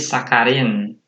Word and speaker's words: sakarin: Konsonan menjadi K, jadi sakarin. Nah, tulisannya sakharin jadi sakarin ya. Sakarin, ya kan dibacanya.